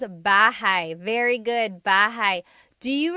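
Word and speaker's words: bahay: Shir said, I always make a mistake with bah and so bahigh is house. Buhai is your life.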